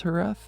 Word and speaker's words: Jerez: want to pronounce that, because I know properly pronounced it's Jerez, but I also know that there isn't another one of those lispy sounds that I allow the Spanish from where I stand, okay?